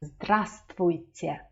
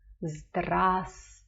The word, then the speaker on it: Здравствуйте: Notice that I didn't say vst because this v is not pronounced. Здравствуйте. Здравствуйте.